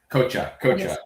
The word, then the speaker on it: Coche: Yeah, I texted her and asked her how to pronounce her name. So she said Cocha.